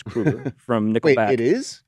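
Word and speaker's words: Kroeger: and why don't you and I with Chad Kroger or Krueger sorry it's Krueger from nickel it is it's pronounced Chad Krueger it's Chad Krueger I saw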